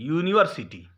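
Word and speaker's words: university: अ यूनिवर्सिटी, देखिए यूनिवर्सिटी ये यू से शुरू है लेकिन इसका उच्चारण य से है, यूनिवर्सिटी, इसलिए यहां पे क्या लगा, अ लगा।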